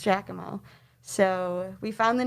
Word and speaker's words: Giacomo: and i found it it's spelled um very strangely not how we spell it um it's kind of spelled like jackie mac but it was pronounced giacomo so we found the